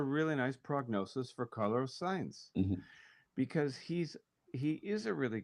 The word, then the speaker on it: Sainz: I can never say his name right. Why can't I remember it? It's Sainz. Signs.